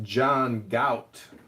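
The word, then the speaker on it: John Galt: I think you're pronouncing it wrong. It's pronounced John Gout.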